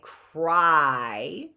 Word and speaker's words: cry: Cry. That's a Y. C-R-Y. That's how we spell cry. The Y is making what sound there? Cry. What sound is that Y making? It's making a long I sound, isn't it?